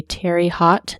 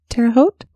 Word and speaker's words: Terre Haute: his mother's ceramics store in, I'm going to mispronounce this town, probably Terre Haute, Indiana, around 4 p.m. Terre Haute?